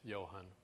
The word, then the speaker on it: Johan: a big staff and my name is Johan like a big Johan you're like John with an extra some weird syllable what yeah we're going